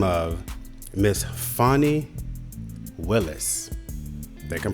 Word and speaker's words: Fani Willis: And this is a lovely lady, professional woman, by the name of Miss Fani Willis. I think I'm pronouncing this correctly. Miss Fani Willis.